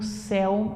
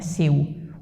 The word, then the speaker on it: céu: Então, eu coloco aqui monossílaba, monossílaba e o céu não é acentuado, né? Por ser monossílabo, é por ser o famoso ditongo aberto. Céu, não é seu.